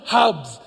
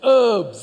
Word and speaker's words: herbs: And it's not hubs it's herbs. The h is silent.